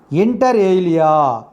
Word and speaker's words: inter alia: And next foreign word is inter alia. This is the pronunciation.